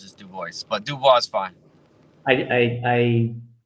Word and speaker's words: DuBois: I say DuBois. I think it's been Americanized somewhere along the chain. I don't know. It's as far back as I know. It's just DuBois.